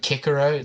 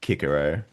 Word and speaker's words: Cicero: a sentence, you're like, "Oh, you've ever read Kickaro?"